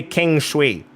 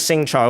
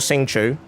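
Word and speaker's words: Xingqiu: He used to say King Shui. He now says Sing Cho or Sing Chu, which is way, way, way more closer to the correct pronunciation in Mandarin Chinese.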